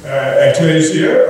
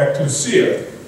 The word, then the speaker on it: ecclesia: The Greek word translated church is ecclesia or ecclesia. Depends which emphasis you put on which syllable, or emphasis on which syllable.